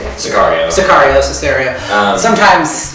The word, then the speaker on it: Sicario: Our nominees are Carol, Hateful Eight, Mad Max Fury Road, The Revenant, Cesario. Okay. Is that how you say it? Sicario. Sicario, Cesario. Sometimes, it's hard to pronounce these things.